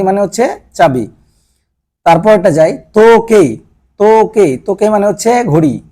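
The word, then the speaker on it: とけい: হচ্ছে চাবি কাগি মানে হচ্ছে চাবি তারপরটা যাই তোকে তোকে তোকে মানে হচ্ছে ঘড়ি তোকে মানে হচ্ছে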